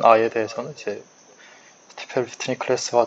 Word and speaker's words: Stiefel: 그리고 이제 4장으로 넘어가는데 저희 뭐 한글 번역은 슈티펠이기도 하고 뭐 누구는 스타이펠이라고 읽기도 하고 근데 찾아보니까 정식 발음이 이제 스티펠인 것 같아서 스티펠로 읽으려고 하고요.